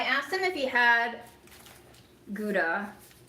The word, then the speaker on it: Gouda: I asked him if he had gouda. I still feel weird saying howa even though I think that's how it's supposed to be pronounced.